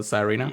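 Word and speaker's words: Tsareena: So Sarina. Yeah. Sorry. I Yeah. always call it Sarina anyways, but I think the S is silent.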